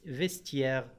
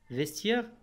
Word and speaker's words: vestiaire: خاصة في هذه الحالة، مثلا كلمة vestiaire، vestiaire هنا تي بعدها إي وإي بعدها إن فوية ولكنها نطقت تي، تي.